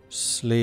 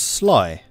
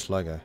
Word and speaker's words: Sligo: Actually, in Irish, the pronunciation is Slee as in slit. I was told it was Sly. But in English it's Sly. Okay. Sleagok. In English Sligo.